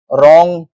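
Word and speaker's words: wrong: उच्चारण व होता है अब है साइलेंट डब्ल्यू कभी-कभी डब्ल्यू क्या है साइलेंट भी हो जाता है गाइस जैसे इसके एग्जांपल्स हैं राइट रॉन्ग रेस्ट अब इन तीनों वर्ड्स में यह क्या है डब्ल्यू से स्टार्ट तो हो रहे हैं लेकिन इनका उच्चारण र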